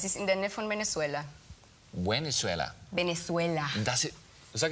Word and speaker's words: Venezuela: Das ist ja unglaublich, das ist schon ein Attentat, wie du Venezuela aussprichst. Ja? Das ist das Tolle. Im Spanischen wird das V, glaube ich, so wie ein deutsches B ausgesprochen, oder?